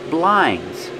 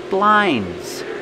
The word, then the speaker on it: blinds: but now we have blinds that's right these are blinds you close the blinds or you open the blinds blinds you don't really hear the D blind we don't say